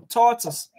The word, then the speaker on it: tortoise: It's first is a tall, and you landed the second syllable, that's all. Tortoise.